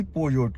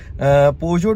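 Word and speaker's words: Peugeot: इसके बाद जो थी ऑफर आई थी पोजोट की, पीजोट, पोजोट, डिफरेंट लोग डिफरेंट नेम्स और उसको प्रोनाउंस करते हैं। पोजोट मैं उसे कहूँगा, और पोजोट के जो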